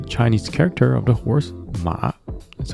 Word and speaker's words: 马: Also the Chinese character of the horse, Ma, that's how they say it.